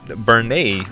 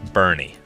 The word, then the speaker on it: Bernay: long time ago well Bernay was uh mistakingly pronounced Bernie a lot of the times and uh I don't